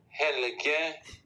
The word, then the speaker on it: Helge: it's the Elite Prospects pronunciation of Helge's name. Let's make sure the volume is up here. Helge Grans.